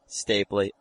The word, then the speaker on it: Stapley: It's the fact that the Kim Spradlin way, the Denise Stapley way, how do you pronounce that name? Stapley.